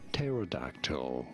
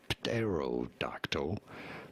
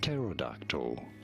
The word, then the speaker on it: pterodactyl: And yes, the P is silent at the beginning. So do not say terodactyl, but rather simply pterodactyl.